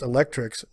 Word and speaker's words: ElectRx: The program, called ElectRx, pronounced Electrix, cute, ultimately aims to replace